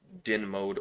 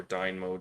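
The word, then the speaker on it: DYNMODE: AutoCAD, is a command called din mode or dyn mode. It depends who you talk to about how they pronounce it.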